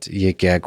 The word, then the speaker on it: Yik Yak: I think the thing you've spoken about that differs between Librex and Yik Yak is that Yik Yak was defined. Am I pronouncing it right?